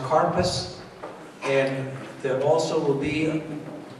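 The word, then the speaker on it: karpas: you will find some parsley and Hebrew is pronounced carpus and there also will be on your seder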